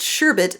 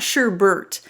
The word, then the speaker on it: sherbet: you purists out there yes it is spelled and pronounced sherbet not sherbert the human ear likes the flow of repeating sounds so we like to hear sherbert and orangutan instead of sherbet and orangutan me I don't care